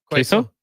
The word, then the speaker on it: queso: Just not very common in these parts, especially with the mild spicy quazo sauce. Is it pronounced quazo? Queso.